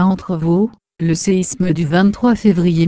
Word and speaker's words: Entrevaux: La commune est nommée Entrevaux, en occitan vivaro-alpin, et provençal. La prononciation locale est Etrevan.